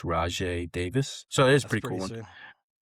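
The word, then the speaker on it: Rajai Davis: it's pronounced Rajay Davis.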